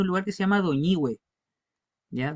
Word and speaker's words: Doñihue: Y en el sur, la partícula hue va acentuada, por ejemplo, en los saltos del Petrohue. Y es la misma sílaba, pero que en algunos lugares se acentúa, en otras no.